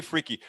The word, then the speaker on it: Fricke: Real close. Fricke. I pronounce the E on the end. You pronounce the E at the end. Fricke.